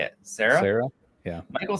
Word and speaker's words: Cera: Sarah? Yeah. Michael Cera, like he is amazing as Scott Pilgrim because